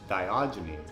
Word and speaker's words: Diogenes: do you say his name again biology news diogenes thank you if diogenes like was the person